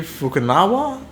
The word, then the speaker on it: Fukunaga: And Cary Fukunaga, I think is how you say it. It's not Fukunaga. I think it's Fukunaga.